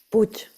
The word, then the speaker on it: Puch: así y Marta Push es se pronuncia Push o p este Marta puch puch Vale pues Marta puch que es